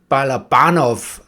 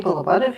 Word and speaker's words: Balabanov: And this time we are talking about the movie of Freaks and Men by Alexei Balabanov. I'm pretty sure I mispronounced that.